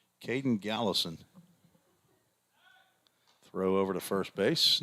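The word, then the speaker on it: Galason: Caden, we've got to go to the pronunciation guide again. Gallison, G-A-L-A-S-O-N. Not as hard as it looked, but I don't like to start off wrong. Caden Gallison.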